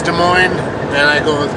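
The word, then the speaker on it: Des Moines: pronounce it how people from Iowa want to pronounce it. It's their city. They say it's De Moine, then I go with De Moine.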